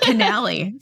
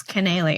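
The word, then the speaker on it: Cannell: heard both tomato tomato I thought it was Steve canell for years and now it's Canal I don't can yeah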